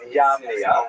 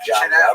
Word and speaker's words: Jamnia: So the Roman term for Yavne is Yamnia, sometimes spelled with a J, pronounced Jamnia, but really Yamnia.